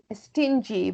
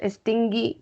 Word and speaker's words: stingy: Stingy, stingy. Be careful with the pronunciation. It's not stingy, it's stingy.